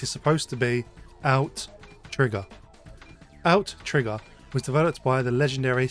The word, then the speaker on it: Outtrigger: Today, we're looking at Outrigger. Outrigger. Out. Trigger. It's Outrigger, although my brain wants to say Outrigger every time. It is in fact Outrigger. There's two T's, you see, a double T, if you will.